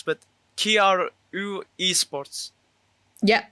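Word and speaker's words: KRÜ: In the B tier list, I'm going to put Team Anivus and Vision Strikers and I don't know how to pronounce, but Kiar Esports. Yeah, crew.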